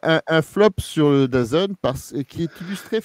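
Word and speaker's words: DAZN: vous donner un flop c'est pour dazon c'est ça ça se prononce comme ça la chaîne la chaîne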